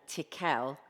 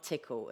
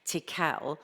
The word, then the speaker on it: Tickell: We've also, and I do need to say it correctly, Campbell and Tickell have been in, not Tickle as Dawn calls them, Tickell have been in, and we have got a clear action plan.